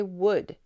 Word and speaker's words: would: is a silent letter it is a scent we don't say whould we say would we're gonna think bold